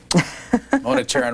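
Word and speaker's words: Mona Charen: Mona Charon writes a syndicated column for Creators Syndicate, graduate of Barnard College in New York.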